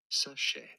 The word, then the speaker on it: sachet: For reference, this is a word of French origin. Oh, in fuck. French, you're going to be right. It is said as sachet.